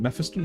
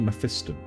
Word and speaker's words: Mephiston: Do you pronounce it Mephiston or Mephistan? I've heard it a few ways. I typically do Methon.